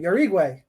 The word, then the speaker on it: Jauregui: Jauregui. There we go. I got it.